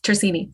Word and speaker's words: Tersigni: Tersigni, like no G.